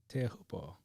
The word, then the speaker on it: Teahupo'o: Teahupo'o.